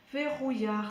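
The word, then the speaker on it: Vehuiah: Verrouillard, ça s'écrit V-E-H-U, et là, le U se prononce OU.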